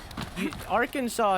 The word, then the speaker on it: Arkansas: Yeah, like Arkansas is pronounced Arkansas. So why isn't Kansas pronounced Kansas? You know? It's spelled exactly the same.